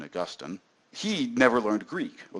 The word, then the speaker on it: Augustine: like Augustine here this is St Augustine or Austine as he some as he's usually known I prefer the pronunciation Augustine he never learned Greek or least not very